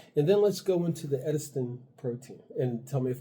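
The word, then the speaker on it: edestin: And then let's go into the Edistin protein and tell me if I'm pronouncing that right.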